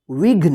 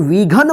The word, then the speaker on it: विघ्न: तो घ न इस क्या पढ़ेंगे विघ्न इसको विन मत पढ़िए विघ्न घ प देखि जल्दी उच्चारण हो रहा है क्योंकि ये आधा है विन देखि य पु